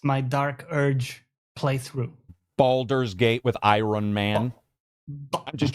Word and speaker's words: Baldur's Gate: Baldur's Gate with Iron Man. I'm just joking. You're not pronouncing it wrong. Baldur's Gate.